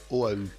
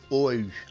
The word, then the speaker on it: Oahu: Et donc vous allez me dire, oui, mais pourquoi cette île Oahu? Enfin, on le prononce, j'ai vérifié, on le prononce sans le U, mais moi je le prononce comme je peux, donc Oahu.